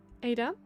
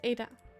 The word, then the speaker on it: Ada: maybe maybe i ida she pronounces the last syllable of her name by deliberately plucking at her top palette with the tip of her tongue the action makes vader